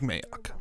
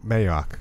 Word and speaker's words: Mayock: Mike Mayock. Mayock, good.